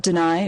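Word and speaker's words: D'ni: Some people call it Deny or Dunny, but often it's just pronounced Dunny as Dunny.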